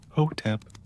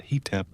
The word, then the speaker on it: Hotep: You pronounce it slowly, clearly. Hotep, not heep.